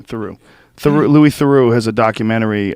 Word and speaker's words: Theroux: Theroux.